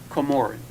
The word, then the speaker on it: Comoran: the same, but But it's actually pronounced Comoran. Oh, really? That's the correct pronunciation of the last name.